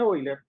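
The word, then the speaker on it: Euler: la fórmula de hoy les asiste pronuncia porque está alemán siempre que tengan palabras en alemán donde esté la e y la 1 se pronuncia hoy hoy entonces en algunas clases van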